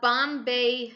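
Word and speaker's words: bombé: This chest of drawers or commode utilizes what we call a Bombay shape, and Bombay is spelt B-O-M-B-E, and the places that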